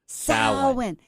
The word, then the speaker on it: Samhain: Samhain. You know, words and me and pronunciation is right from my beginning.